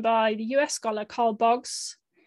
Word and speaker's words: Boggs: the u.s scholar carl boggs i say his name in a very british way i should say boggs probably um he wrote these